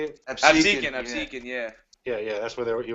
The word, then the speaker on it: Absecon: I think it's Absecon. Is that how you say it? Absecon, yeah.